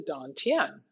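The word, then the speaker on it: dan tien: of the body in chinese it's called the don tien it's spelled kind of like tan tien but it's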